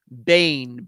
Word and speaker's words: Boehm: Charlie project Fredick Joseph Bane b o e hm why it's pronounced that way I don't know but that's the way I pronounce it um Michelle says thank